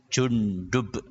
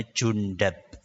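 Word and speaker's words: جندب: Namanya Jundub. Namanya siapa? Jundub. Ada sebagian ulama mengatakan cara membacanya Jundab. Boleh dua-duanya. Jundub boleh, Jundab juga boleh.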